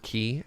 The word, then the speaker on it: quay: scenarios map themes oh pronunciation of the word key excellent so if I